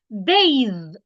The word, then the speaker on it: bathe: t h e bathe so there is a difference between b a t h bath and b a t h e bathe both have the B sound but of course the TX sound in each word is pronounced differently bath have you had a